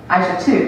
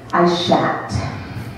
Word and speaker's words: Aishat: So you would think it was pronounced Aisha too, yeah? That makes the most sense, but no. The proper pronunciation of my full first name is Aishat. Aishat.